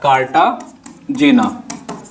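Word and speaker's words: Cartagena: section में बताना है कार्टाजेना प्रोटोकॉल या कार्टाजोना जो भी आप पढ़ते हो प्रोनाउंसिएशन जैसा भी करते हो कार्टाजेना भी बोला जाता है कार्टाजोना भी जाता है ठीक है तो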